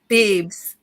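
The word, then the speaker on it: Beebz: Beebs, Beebs, just like Peeps, only Beebs. Beebs. Yep, with a Z on the end.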